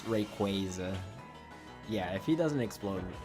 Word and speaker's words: Rayquaza: Yeah, it's the Rayquaza one. Rayqua how it's usually pronounced or I think it's canon that is Rayquaza. In Portuguese it sounds like Rayquaza. So, I get heavily influenced by the Portuguese pronunciation of words.